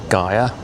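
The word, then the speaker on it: Geier: I think I'm pronouncing it correctly, G-E-I-E-R, Gia.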